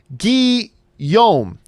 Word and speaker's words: Guillaume: Side note, my name is pronounced Guillaume. Oh, Guillaume. I should have known that. Like Robert Guillaume.